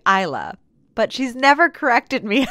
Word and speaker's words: Isla: Now, it wasn't until after this interview that Isla actually told me that how she pronounces her name is typically Isla, but she's never corrected me until after we recorded it or after the TEDx talk.